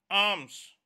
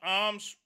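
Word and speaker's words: alms: arms in arms word students l is silent a-l-m-s arms the word is arms and it means charity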